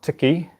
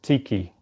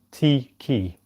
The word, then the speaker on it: tiki: The pronunciation for that is not tiki, it's tiki, because the I, and this is something I just realised myself, the I in Te Reo Māori is pronounced E, tiki.